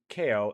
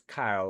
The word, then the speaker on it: Kyle: It's uh it's not kale. It's Kyle like kilo. So kil kilo.